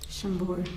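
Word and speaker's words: Chambord: Shambbor.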